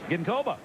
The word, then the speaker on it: Ginkoba: How's that pronounced? Ginkoba.